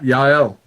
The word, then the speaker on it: Yael: I just wanted to give a shout out to, I believe you pronounce her name Yael? Yep, Yael.